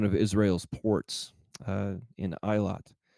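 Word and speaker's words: Eilat: at uh one of Israel's ports uh in iot it's also pronounced Elliot but I believe the pron correct pronunciation is iot that's spelled EI l a t so revenues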